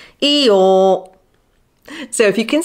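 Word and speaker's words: Eeyore: he's a donkey and he's called eore because his name sounds like the sound a donkey makes eore so if you can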